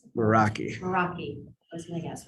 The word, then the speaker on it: Meraki: President, I move that we approve the 3-year license renewal for 20 Cisco, how do you pronounce it? Meraki.